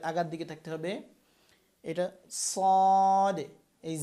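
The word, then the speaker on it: ص: তারপর হচ্ছে সদ। সদ হচ্ছে জিহ্বার আগা এই নিচের এই আগা দাঁতের আগার দিকে থাকতে হবে, নিচের সামনে নিচে যে দুই দাঁত আছে এটার আগার দিকে থাকতে হবে। এটা সদ।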